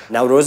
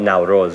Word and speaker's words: Nowruz: the first known people to have celebrated it now Rose is such a big part of Afghan culture